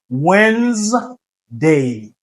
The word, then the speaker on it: Wednesday: Bon pas Wednesday c'est Wednesday Wednesday ok c'est cours capable DA il pas prononcé ok c'est et puis ensuite EA il